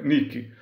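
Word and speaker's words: Nike: deusa grega da Vitória Nick Essa é pronúncia em grego Nick depois aquela marca de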